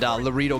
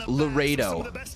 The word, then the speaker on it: Laredo: Mike Bailey and Loro Kid. Pretty fun. Pretty fun team right there if you ask me. Easy. It's pronounced Larredo. Laredo kid.